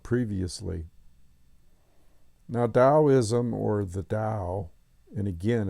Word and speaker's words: Tao: now Daoism or the Dao and again it's pronounced Dao but it's spelled ta AO ta Tao or taism t AO